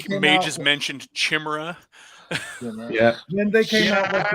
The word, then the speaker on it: Chimera: going to field my Chimera. I'm like, Chimera. It's Chimera. It's a Greek word. It has a pronunciation.